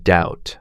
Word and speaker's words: doubt: Silent B for words like doubt, subtle, comb.